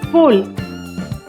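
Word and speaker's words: foal: फोल। यहाँ पर ए साइलेंट रहेगा, हम इसे फोल बोलेंगे।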